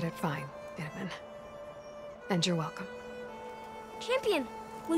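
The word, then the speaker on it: Itamen: You said it fine, Itamin.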